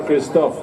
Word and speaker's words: Kristoff: How do you pronounce it in Norway? Kristoff or Kristoff?